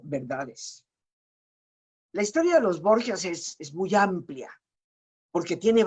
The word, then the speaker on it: Borgia: Sin embargo, la J, pues para los italianos no es fácil de pronunciar. Es el idioma italiano, es un idioma muy suave y la J no la pronuncian como nosotros. Y esa tendencia lingüística transformó el Borja en Borgia, que es la forma en que se puede pronunciar la J en italiano.